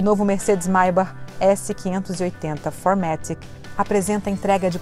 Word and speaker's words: Maybach: E se você ficou com dúvida com relação à pronúncia, sim, é Maybach que se fala, pois a origem do nome é alemã.